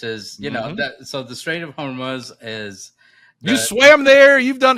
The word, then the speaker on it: Hormuz: Is that how you pronounce it? Hormuz? Hormuz, yeah, yeah.